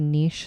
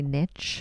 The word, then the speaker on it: niche: it is kind of I'm gonna use the Canadian pronunciation it's a niche sport Americans like to say niche you say his schedule